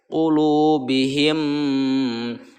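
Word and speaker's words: قُلُوبِهِمْ: Jadi ini dibacanya idgham. Qulubihim, tekan mimnya ya.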